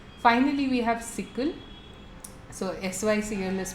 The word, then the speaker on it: SYCL: So SYCL is pronounced SYCL.